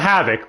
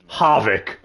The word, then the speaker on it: Havik: Havik. Not Havoc, listen. Havik.